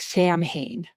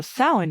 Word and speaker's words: Samhain: And if you read it, a lot of people like Sam Hayne is how you just like and it's pronounced thin. S O W I N. It's Celtic. It's thousands of years old. So sin is the name of it.